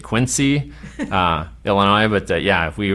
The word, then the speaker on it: Quincy: in quiny and I had no idea what state quinsey was even in had never even heard of it our first call was in Illinois so we pronounced it Quincy uh Illinois but yeah